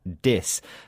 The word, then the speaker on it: dys: This word starts with the prefix dis, but this time it's spelt D-Y-S.